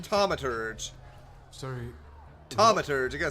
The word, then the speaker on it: Thaumaturge: a thge it might make for I so butcher the way I say it I'm like the thge Tom sorry tomur I got to say it right what a